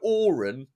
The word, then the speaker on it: AOREN: And so Auron is, I guess, one of my foundation ones, and it's a mnemonic. And it's spelt a bit weird.